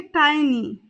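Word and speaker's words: tiny: इसे इंग्लिश में कहेंगे टाइनी टाइनी कई जगह इसे टिनी भी बोल दिया जाता है तो टिनी और टाइनी दोनों ही प्रोनंसिएशन इसके लिए ठीक है साथी कलीग यानी कि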